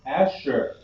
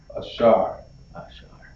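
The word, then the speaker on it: אשר: Next we have Asher. We have Asher. We have Asher. Okay? And now, in Hebrew, Asher is going to be pronounced Ashar.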